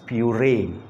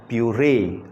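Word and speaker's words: purée: लोग तैयार करते हैं, दैट इज़ प्यूरे, प्यूरे। उसको हम लोग इस तरीके से प्रोनाउंस करेंगे।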